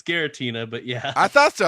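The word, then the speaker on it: Giratina: then tier 5 is Reggie Tina they spell it wrong here it's it's Gera Tina but yeah I thought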